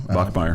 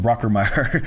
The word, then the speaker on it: Bachmeier: Bachmeier. Bachmeier. I want to I keep want to call him Brockermeyer.